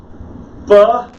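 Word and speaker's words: בראשית: The word we just kind of walked through is Bereshit.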